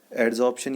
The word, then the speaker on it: adsorption: यहाँ पर आप देख रहे हैं AB एब्जॉर्प्शन, प्रोनाउंसिएशन पे ध्यान देना। AD एड्जॉर्प्शन।